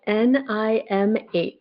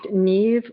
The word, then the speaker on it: Niamh: name and it's spelled N I Mh. So it looks like Nim or Nim, but it's actually pronounced nev or nev.